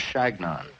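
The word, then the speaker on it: Chagnon: know my name i told him that it was shagnon or but they couldn't pronounce it it sounded to them like their name for a pesky bee shanky and that is what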